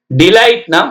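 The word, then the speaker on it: delight: ஐ ஜி ஹெச் டி மெலிந்த அல்லது நுட்பமான slide டிலைட்னா மகிழ்வி டிலைட் டி எல் ஐ ஜி ஹெச் டி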